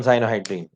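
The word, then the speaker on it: cyanohydrin: Acetone साइनोहाइड्रीन, आप साइयानो मत बोलना, ये प्रोनाउंसिएशन इसका साइनो है, साइयानो नहीं।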